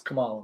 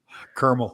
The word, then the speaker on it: Kamala: That's Kamala, by the way.